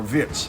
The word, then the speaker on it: Wirtz: However, Florian Wirtz, or Wirtz, if I was to be accurate about the German pronunciation of his name.